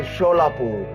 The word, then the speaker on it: Solapur: Subsequently, the British rulers pronounced Solapur as a Sholapur and hence the name of the district.